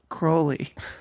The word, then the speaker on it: Crowley: It's pronounced Crowley.